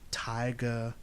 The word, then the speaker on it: Taiga: He has an English teacher by the name, and yes, Taiga Fujimura. Taiga. Yes, if you're wondering, yes, it sounds like tiger. This is how Japanese pronounce tiger in their language.